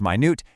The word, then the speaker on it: minute: And on the flip side, when you're dealing with the absolute smallest end of the spectrum, utilizing words like minute, that's pronounced minute, and tiny perfectly emphasizes the exact precise scale you're dealing with.